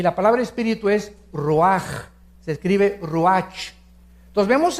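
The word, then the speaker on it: רוח: Nep se pronuncia nepej porque la ch en hebreo es nepeg y la palabra espíritu es roaj. Se escribe ruach.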